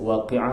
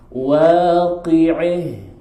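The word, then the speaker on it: الواقعة: Baik, Abul Haris daripada Kisai ini membaca dengan waqi'ah tu jadi waqi'ih. Cuba tuan. Dia imalah. Itu dia panggil imalah.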